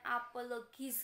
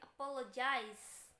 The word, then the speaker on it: apologize: aku atau Idol apologize sering dibacanya apologize itu bukan apologis gitu bukanya tapi apologize kalian bisa menirukan di